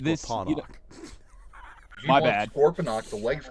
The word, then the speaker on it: Scorponok: It's pronounced Scorponok.